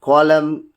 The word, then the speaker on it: column: Rule, the letter N is not pronounced, comes after M at the end of a word.